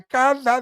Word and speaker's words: cada: Not calle día. Cada día.